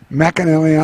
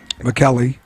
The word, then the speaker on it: McKelly: McAnally on the line. On the mound, I should say. McKelly.